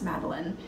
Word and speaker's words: Madeline: even though it's spelled like Madeline, it's Madeline.